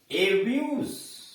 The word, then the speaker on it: abuse: अगर आपने कहा एब्यूज, एब्यूज जो यानी अंतर ज आपने लगाया, इसका मतलब गाली देना वर्ब हो गया। लेकिन आपने कहा एब्यूज स पर अंत किया तो इसका मतलब गाली, गाली होगा।